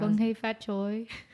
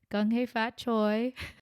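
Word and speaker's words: 恭喜發財: I think that's how you say Happy New Year in Chinese. I might be wrong or saying it with a very American accent, but Gong hei fat choi.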